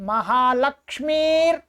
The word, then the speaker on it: महालक्ष्मीर्: पुत्रान् रक्षेन् महालक्ष्मीर्। ठीक है, ये जो र है ये इसके साथ बोलेगा।